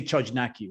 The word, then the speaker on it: Chojnacki: to it they say chojnacki right that's because that's how you pronounce it in english but it's yeah it's